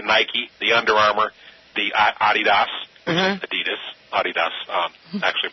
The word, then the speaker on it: Adidas: your friends, I mean, everybody says everybody says Adidas, right? You know, is Adidas and the actual pronunciation of it is Adidas. Adidas.